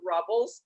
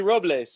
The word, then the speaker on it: Robles: It should totally be Robles. I mean, Robles is the Spanish word for oaks, and it's named as the Pass of the Oaks. And the full name of the town is El Paso de Robles, but locals call it Paso Robles in the same way they call it Los Angeles and not Los Angeles.